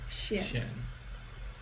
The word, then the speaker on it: 西安: Okay, so this would be let's see if we can pronounce this. So 我现在在长城 The second one's tripping me up. 西安 Xian.